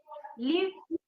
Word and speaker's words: live: Live versus leave. Yeah, yeah, yeah, yeah. So you know the difference, right? One is short and other is a Yes, little yes, long, right?